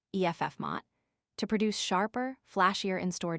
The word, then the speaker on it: FMOT: It recently created a position entitled director of first moment of truth or director of FMOT, pronounced EFF Mott, to produce sharper, flashier instore displays.